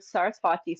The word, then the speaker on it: Sarasvati: the left corner was the word sarsti spelled with a V not a w which is interesting because it's spelled like different depending on how you use it but there's no there's no W sound in India um and so a